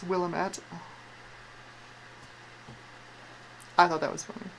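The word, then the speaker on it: Willamette: willamet willamet I still I still I still pronounce it Willet in my head like it's a tiny Willam defo it's Willam at I thought that was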